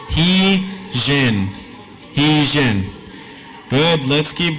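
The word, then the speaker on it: ϩⲓϫⲉⲛ: So this is going to be pronounced as an H. And then this one looks like an I, pronounced like an I. This one, we said looks like a script J, right? Looks like it, pronounced like it. So this is an E, this is an N. So you put those together, it's he, jen.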